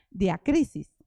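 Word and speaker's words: διάκρισις: el numeral G 1253 que se pronuncia diac crisis esto nos habla de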